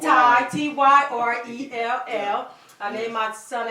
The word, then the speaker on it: Tyrell: like my son, and people keep trying to call him Tyrell, T-E-R. I'm like, no, it's Ty, T-Y-R-E-L-L.